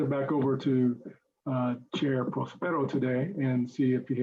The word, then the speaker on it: Prospero: Although the accent is on the first O, Prospero.